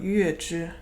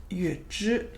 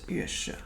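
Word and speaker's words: 月氏: Now, zhi is it's pronounced zhi when talking about Yuezhi, which is an ancient people of Central Asia who lived during the Han Dynasty.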